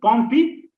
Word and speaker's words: Pompe: So you can easily remember Pompe. So two syllables are there, Pompe.